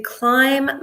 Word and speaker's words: climb: Climb is a really strange word. It's spelled with a B, but it's a silent B. So we don't say it, but it's spelled with the silent B.